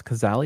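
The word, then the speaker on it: Cazale: she was not contacted after her partner John kazali K that's kazali how he say last name I believe yes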